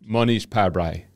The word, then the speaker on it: Mohnish Pabrai: How did you pronounce it? Mohnish Pabrai.